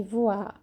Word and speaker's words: voix: Para falar voz, se escreve V-O-I-X no final. Nosso X é X no final, ok?